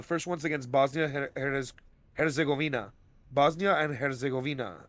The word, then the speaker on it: Bosnia and Herzegovina: Bosnia and Herzegovina, I believe is how Mm. you pronounce it. Yep, you got it.